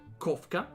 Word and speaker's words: Kofka: Yeah, I called it as an English name for now, Kofka, pronounced Kofka, because it's the Kofka. It's kind of inspired by Kafka or Kafka from Final Fantasy VI.